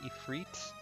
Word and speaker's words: Ifrit: Also, I guess technically the correct way to pronounce this boss's name is Ifrit.